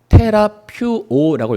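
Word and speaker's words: θεραπεύω: 성도님, 여기서 고침이라는 이 단어가 헬라어로는 뭐라고 읽냐면은 테라퓨오라고 있습니다. 테라퓨오.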